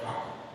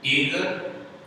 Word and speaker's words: Tagore: Thakur, and from there, Rabindranath family got Thakur. Because the Britishers, they started writing Tagore, so he became Rabindranath Tagore because of the spelling and the pronunciation.